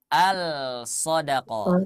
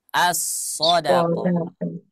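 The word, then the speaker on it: الصدقة: Nah asodqoh ya asodqoh tidak dibaca alodqoh tidak tapi dibacanya assodqoh nah maka Dar itu dengan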